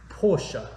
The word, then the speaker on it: Porsche: Porsche.